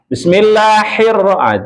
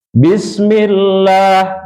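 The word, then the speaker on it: بسم الله الرحمن الرحيم: Bismillahirrah sudah salah. Atau Bismillahirrahmanirrahim juga salah ya. Baiklah, dengarkan perlahan. Bismillahirrahmanirrahim . Bismillahirrahmanirrahim. Ayo, satu, dua. Bismillahirrahmanirrahim. Nah, di sini, perlu dipegang sedikit lebih lama , Pak. Bismillahirrahmanirrahim. Tahan tombol R untuk satu, dua. Bismillahirrahmanirrahim. Nah, itu bagus, melakukannya bersama-sama bahkan lebih baik.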